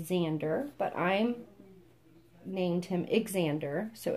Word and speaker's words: Xander: And he's the Xander, but I named him Xander, so it's spelled with X-A-N-D-E-R, Xander, which I think is so cute.